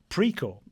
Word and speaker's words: Precor: Probably the most highprofile uh period of your career uh was in 2020 when as president of uh PRO is it precore or precore?